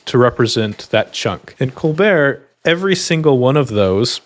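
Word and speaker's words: ColBERT: It's pronounced Colbear. I don't know if it's uh named after the comedian or if people just liked how the French pronunciation is, but that is how it's pronounced.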